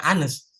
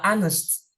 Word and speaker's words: honest: adaobaebnya yang si kayaknya bukan bacanya bukan Anes jadi eh biasa aja honest gitu honest ya tapi yang benar adalah honest ya itu jadi jujur